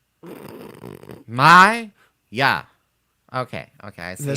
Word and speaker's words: Maya: So, how do you pronounce Mia? Maya. Maya.